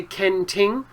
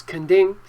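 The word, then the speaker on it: Kenting: south of taiwan and in english it's written with a t but you you don't have to say ken ting you could say it like chinese kanding and uh both are okay up to you and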